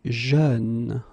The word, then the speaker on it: jeune: Same thing, you don't say je, you say jeune, okay?